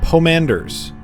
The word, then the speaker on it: pomander: now and then and they have poem Anders in them I believe that's exactly how it's pronounced I looked it up to make sure it's a pomander poem